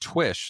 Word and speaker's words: Twish: It is pronounced Twish, like the way you said it.